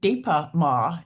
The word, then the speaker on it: Dipa Ma: And I can't tell you how often I have turned to this woman, Indian woman, named Dipa Ma. Dipa is spelled D-I-P-A, and Ma means mother, Dipa, mother.